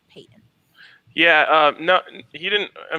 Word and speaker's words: Paton: And actually, for anyone listening, that is how you pronounce it. I know a lot of people thought it's Paton because it's Paton, or there's a bunch of different pronunciations, but it is George Paton.